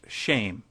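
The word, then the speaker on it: שם: Hebrew word for name which is shim pronounced shame we might as well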